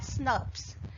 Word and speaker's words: snRNPs: They get associated with ribonucleoproteins, so snRNPs, pronounced as SNRPs.